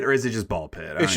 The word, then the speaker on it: Ball x Pit: __ ] So it seems like is it ball x pit or is it just ball pit? It's just ball pit. So, you don't pronounce the the X.